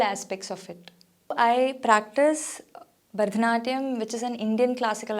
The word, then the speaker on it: Bharatanatyam: areas is so different because in the language of Tamil, there is no ha, so we say Bharatanatyam instead of Bharatanatyam or Bharatnatyam, which is a very common